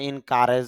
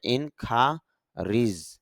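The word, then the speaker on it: encourage: সাক্ষাৎ ইনখারিজ উৎসাহিত করা যদিও আমরা ইনকারেজ বলি তবে এখানে এই যে সাউন্ডটা এটা রসয়কারের মত সাউন্ড হচ্ছে আইপিতে দেখা যায় এই সাউন্ডটা ই সাউন্ডে পরিণত হয়েছে এজন্য বলতে হবে ইন খািজ অর্থ হল উৎসাহিত করা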